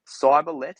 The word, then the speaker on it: Cyberlete: Is it Cyberlete? Is that correct? Pretty close. Cyberlete, so like a cyber athlete put together.